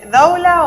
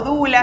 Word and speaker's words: doula: Sí, doula o dula, se escribe doula, algunos dicen doula, otros dicen dula.